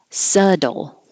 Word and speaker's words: subtle: it very often murderer this one is completely crazy because it looks like a bee you don't hear a b you don't see a d but you hear a d subtle as in up subtle subtle thwart